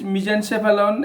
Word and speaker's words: mesencephalon: in brain protein chapalon this is pronunciation it is mesencephalon and it is rhombencephalon three vesicles for brain